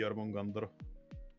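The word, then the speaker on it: Jörmungandr: I just hate that it's pronounced with an O, because in reality it would be Jormungandr.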